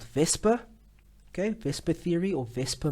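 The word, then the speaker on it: VSEPR: or this abbreviation actually it is an acronym because it's pronounced like a word called vesper okay vespa theory or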